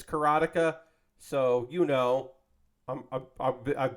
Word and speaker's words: Karateka: least 20 yeah uh karateka or karateka I it's carotica but I learned it as keratika because when I knew